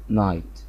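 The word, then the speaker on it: night: جود نايت لو نفتكر جي اتش اللي خدناها في الحلقة اللي فاتت، جي اتش ما بتتنطقش، فالكلمة اسمها جود نايت.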